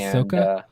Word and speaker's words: Ahsoka: how you say that is it Ahsoka yes okay yeah how do you say it Ash Oka is that how you said it me yeah I thought